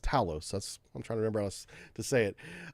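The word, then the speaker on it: Thales: which is spelled, but I've been told it's pronounced Talos.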